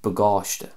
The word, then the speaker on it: Bagáiste: way I'm pronouncing that I'm putting more of an emphasis and stress on the end of the word bagÁISTE so the a-i-s-t-e